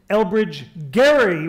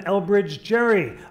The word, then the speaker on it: Elbridge Gerry: are here tonight no can pronounce Elbridge Gerry rather than Elbridge Gerry up in signers Hall